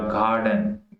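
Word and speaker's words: garden: उसके बाद गार्डन, गार्डन, गार्डन, ठीक है, यहाँ पे भी अलमदा की तरह गार्डन, गार्डन नहीं होगा जैसे हम वैसे ट्रेडिशनली बोलते हैं गार्डन पाकिस्तानी प्रोनाउंसिएशन के अंदर। तो ओरिजिनल इसकी जो प्रोनाउंसिएशन है आर की, वो यहाँ पे होगी गार्डन, गार्डन।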